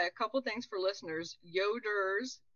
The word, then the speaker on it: Yoder: couple things for listeners yoders y-o-d-e-r correct yes not yoda don't get too excited